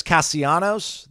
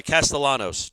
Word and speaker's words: Castellanos: The 2 L's next to each other I always thought was the Y sound.